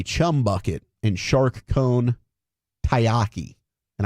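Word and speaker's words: taiyaki: San Jose Sharks have a chum bucket and shark cone tayyaki. And I say it's tayyaki because that's how it's spelled.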